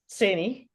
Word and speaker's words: Saini: So, Deepak Saini, did I say it right? Saini, yeah.